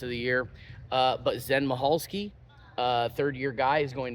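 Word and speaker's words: Michalski: that um but yeah Zen mahalski the C is silent but Zen mahalski apparently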